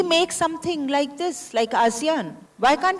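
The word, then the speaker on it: ASEAN: सर ऐशियान is there. I don't know how we pronounce it इज़ इट एट एसियान? आसियान।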